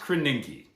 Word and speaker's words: Krasinski: It's pronounced Krasinski.